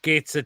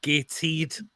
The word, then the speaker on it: Gateshead: It's not Gateshead, John. It's pronounced Gateshead.